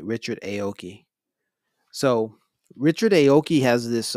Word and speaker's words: Richard Aoki: the wrong thing yeah I said it right Richard Aoki so Richard Aoki has this um did an